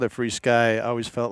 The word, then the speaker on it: FrSky: okay well I mean traditionally FR sky or free sky over how we like to pronounce it we could do free